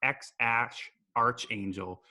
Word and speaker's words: X Æ A-12: liked a tweet suggesting it could be pronounced X - Arch Angel the thinking being AE is pronounced ash in the Scandinavian alphabet and a - 12